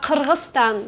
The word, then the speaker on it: Kyrgyzstan: And also when I have been in Kyrgyzstan, like they don't like when Russian people call them Kyrgyzia. They say no, Kyrgyzia, we are Kyrgyzstan. You should call us Kyrgyzstan.